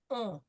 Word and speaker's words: on: Il, elle, on. The ON is nasal.